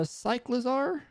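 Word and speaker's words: Cyclizar: the screen but this cute little dude uh cyclazar is how you say his name the bite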